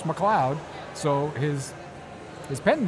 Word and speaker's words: McCloud: know his family spelling of the name is pronounced McCloud so his his pen name is McCloud and